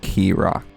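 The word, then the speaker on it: Keerakh: Place your bets on how it's pronounced. I'm thinking Krock. I think it's got to be Krock. Krock. K E E R A K8. It is Krock.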